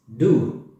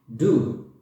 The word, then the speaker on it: du: When you want to talk about another person, you say you, which is du. Du.